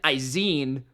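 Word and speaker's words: Izien: To the next one, we got Christian Izine, I believe is how you correctly pronounce his last name, the rookie nickel of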